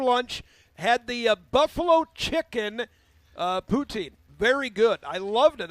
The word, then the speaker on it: poutine: I had never had, and I'm probably saying it wrong, poutine.